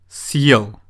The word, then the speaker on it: съел: Listen to the difference in pronunciation. Сел, съел. Сел means I sat down, and съел means I ate something. Why do you think we need a hard sign or a soft sign?